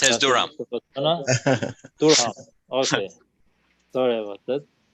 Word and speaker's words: Durham: We pronounce as Durham. Durham, okay. Sorry about that. Durham, North Carolina. He pronounced it correctly, actually. It's Durham.